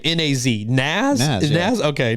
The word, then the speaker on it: Nas: the little shout out but how do you pronounce his name na AZ Nas Nas okay Nas it is like Nas a cool dude like